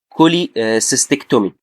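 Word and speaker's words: cholecystectomy: فانا مثلا لو عندي السي اتش بتتنطق ازاي؟ بتتنطق زي حرف الكي، فهقول كايم او كولي سيستكتومي او كرونيك.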